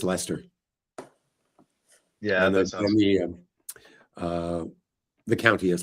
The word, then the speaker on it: Leicester: No, if you live in England, it's Leicester.